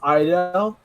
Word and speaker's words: Idel: It's pronounced Idel, so like an I and like a Dale.